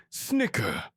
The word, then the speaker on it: CHCR: Acronym CHCR, pronounced Snicker, and composed of equal numbers of bipeds and quadripeds.